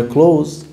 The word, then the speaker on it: clothes: a nap change my clothes change my clothes clothes like close the door same pronunciation but different spelling that's a lotta like